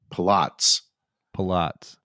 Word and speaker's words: Pilates: exercise Pilates torts although she says that they that they used to pronounce it um um Pats Pats but uh that never Pilates